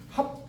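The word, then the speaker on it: 盍: 각자 뜻을 얘기하는게 아니라요 합 각원 이지하라 각원 이지요 이렇게 얘기했어요 그 합이라고 읽어요게 계자가 아니라 합자 합을이라는 건 어찌 하자에 다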